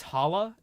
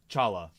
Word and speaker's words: challah: Oh, it's technically it's challah, but it's pronounced challah.